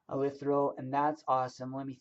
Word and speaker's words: eleuthero: It's called eleuthero, is how I pronounce it. Hmm, E L hmm, E U hmm, T H R O, eleuthero, and that's awesome.